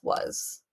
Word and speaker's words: was: But the A and the S needs to be practiced as heart and sight words, and it's going to be pronounced as was.